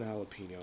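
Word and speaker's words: jalapeño: plant I got one jalapeno out of it I saved the seeds however Joe Avenue Peppers actually in Spanish the J is pronounced more like an H sorry for the jalapeno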